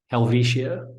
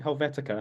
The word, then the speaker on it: Helvetia: How do you say it? Helvetia. Helvetia. In my brain, I always think Helvetica, like the font.